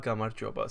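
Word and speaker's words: გამარჯობა: It's pronounced Gamarjoba.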